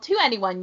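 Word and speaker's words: 2NE1: your head when you someone says the group is called to anyone you you'll just assume it's like to anyone instead of the number two the letter n letter e this one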